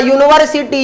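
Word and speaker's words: university: अब अ यूनिवर्सिटी professor, अब देखिए यहाँ यूनिवर्सिटी यू से लिखा हुआ है ना, लेकिन जब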